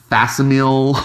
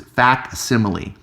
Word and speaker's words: facsimile: I see so many youtubers calling it like Fastenal editions all the weird pronunciations it's fact simile this is the word that you get facts